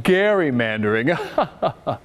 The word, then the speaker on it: gerrymandering: the party who says actually it's pronounced garrymandering and you might be